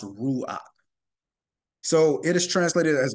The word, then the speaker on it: ruach: So ruach is one Hebrew word for spirit, and again, pronounced ruach.